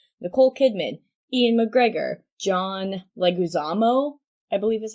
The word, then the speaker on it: Leguizamo: main cast is Nicole Kidman Ian MacGregor John Leguizamo I believe is how you say his name